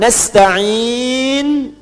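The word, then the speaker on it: نستعين: Nasta'in dibacanya fathah depannya. Nah, ya. Ujungnya harakatnya u kalau disambung.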